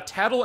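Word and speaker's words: Tatl: Yeah, those are Tattle and Tail, who actually pronounced wrong forever until I met you, honestly, because I thought, oh, it's the Japanese pronunciation of T-A-E-L and T-A-T-L, so I saw it as Tattle and Tile, so it's like Tottle Tile, but Tattle Tail.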